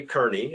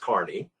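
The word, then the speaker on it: Kearny: general now we'd say kearney and if you go to california they say it's kearney plaza or or kearney road or all those things but it's actually pronounced carney polk proposed that colonel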